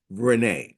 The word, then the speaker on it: Rene: Some people pronounce it Ren. My brother calls me Clyde Ren, which is another story. But, we're going to take it and we're going to announce it as Renee.